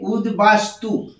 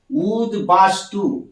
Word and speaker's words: উদ্বাস্তু: এলাম এটা লেখা আছে উদ্বাস্তু এখানে কিন্তু আমরা ব পরিষ্কার উচ্চারণ করছি উদবাস্তু উচ্চারণটা করছি উদ্বাস্তু এই